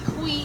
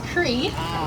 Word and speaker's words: Creed: saying my name wrong it's not qui it's creed it's okay though it's